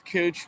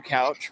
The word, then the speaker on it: Couch: From what I hear, it's Cooch, but I would prefer Couch personally. Why is that? It just sounds less offensive, and that's usually how I've seen that lettering pronounced. Actually, this Cooch is the